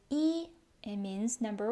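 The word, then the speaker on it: 一: It pronounces yi.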